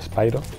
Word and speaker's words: Spyro: trilogía remasterizada de spyro que antes dicho expiró porque así lo decimos siempre en español tal y como vemos las palabras como lo pronunciado pero en realidad sería spyro y bueno pues nada